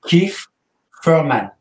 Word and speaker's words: Keith Thurman: Bon, pour une dernière fois, est-ce qu'on peut bien le prononcer? Moi-même aussi, l'anglais, c'est pas mon truc, mais c'est Keith Thurman.